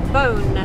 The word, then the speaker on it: Beaune: to a place called bone expelled the e au and E but pronounced her bone like a dog with a bone my powers very beautiful